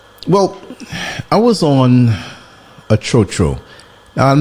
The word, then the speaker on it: tro tro: I heard it was TR Tru or something like but it's TRO TRO and those are the vans that go up and down and take you around different routes.